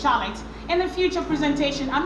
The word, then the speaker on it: Charlotte: Although there are exceptions, like in the word of Charlotte, some people say Charlotte, but it's not Charlotte, it's pronounced Charlotte.